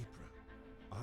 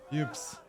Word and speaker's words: Ypres: Ypres, a town in ruins. Dubbed Whispers by the British troops due to difficult pronunciation. The Belgian town of Ypres was a key strategic position during the war.